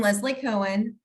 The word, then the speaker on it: Leslie Cohen: and then we'll uh start from there i'm leslie cohen and i'm running for assembly district 29.